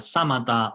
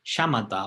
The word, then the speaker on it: Samatha: Esas posibles formas de pronunciar samatha o shamatha. Y seguramente estáis más acostumbradas a escuchar shamatha o chamata, ¿no? Con la H después de la S.